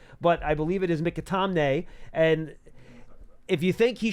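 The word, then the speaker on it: McAtamney: If you guys think, out of an abundance of caution, they could have elevated Mikatamne, and that is, by the way, how you pronounce the last name.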